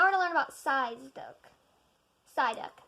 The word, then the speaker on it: Psyduck: Psyduck.